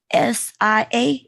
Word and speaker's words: Sia: I remember her doing that set with her name, SIA. How you pronounce her name?